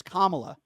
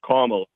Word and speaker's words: Kamala: Why don't you pronounce her name right? It's Kamala. Kamala.